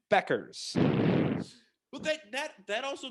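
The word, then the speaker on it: Bueckers: of old for yukon women dude freshman paige becker's is the real deal i'm happy you finally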